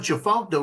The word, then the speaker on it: Tchefuncte: was doing Chifuncta right. TCHEFUNCTE. It was saying that right the whole time, right? After it started doing crew right, it started doing Chifuncta wrong.